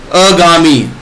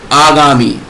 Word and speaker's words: आगामी: जैसे अशुद्ध में क्या है, अत्यधिक, लेकिन सही उच्चारण क्या है, अत्यधिक। साप्ताहिक, साप्ताहिक। आहार, आहार। आधीन, अधीन। अगामी, आगामी।